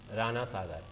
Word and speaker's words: राणा सागर: इसको तो, है ना, क्योंकि प्रोनाउंसिएशन उसका ऐसा है, राणा सागर, इसको हम वो हिंदी में रणा को भी नहीं लिखते हैं, वो राणा सागर बांध है ना, तो ये हो गया हमारा राणा सागर बांध।